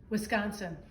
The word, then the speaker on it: Wisconsin: Or is it Wisconsin? I have received comments informing me I am pronouncing it wrong. So I asked my wife, who is a Wisconsin native and who is never wrong. Wisconsin. Okay, so be it.